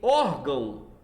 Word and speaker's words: órgão: não é aceito gente em órgão temos somente um acento agudo no o assim a palavra paroxítona e não oxítona como Alguns podem ficar